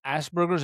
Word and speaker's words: Asperger's: The term Asperger's? Am I pronouncing it correct?